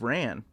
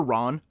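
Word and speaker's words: Rann: This is a map of Ran, or Ron, depending on how you want to pronounce it. I've heard it both ways.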